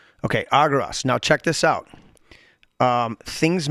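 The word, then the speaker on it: ἄργυρος: Agiros, okay? Here, we'll make him say it. Strong's G 696. Argyros. I knew I wasn't saying it right. Okay, Argyros.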